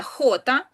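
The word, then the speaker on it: jota: Буква ця називається хота в іспанській мові і читається вона як х. Це трошки незвично, бо в інших мовах то як дж, то як й, то як ще щось, а тут ні. Тут х. Звичайне, наше х, до якого ми звикли.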